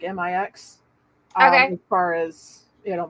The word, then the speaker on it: Mx: I prefer uh mix MX pronounced like m-i-x as far as you